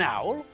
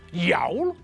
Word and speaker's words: owl: There's an owl, an eagle, and a crow. Okay, an easy one. An owl, an eagle, and a crow. Owl begins with a vowel, and it's not pronounced as yowl.